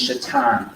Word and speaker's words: Shaitan: I know, Satan's name is Shaitan, that's how you say it, yes.